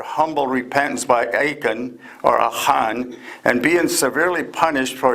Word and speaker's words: Achan: There's an Israelite soldier named Ahan, or the English, the way it's pronounced is Achan, but in the Hebrew it's Ahan.